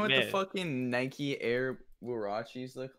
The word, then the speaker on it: Huarache: Yeah, you guys know what the fucking Nike Air Huaraches look like? The Huaraches? Huaraches? No, they're it's pronounced Huarache.